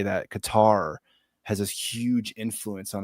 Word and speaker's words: Qatar: Qatar also rhymes with Mumar as in Mumar Gaddafi.